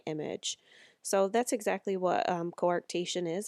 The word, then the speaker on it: coarctation: of a or t'k coarctation is how it's pronounced coarctation so you can see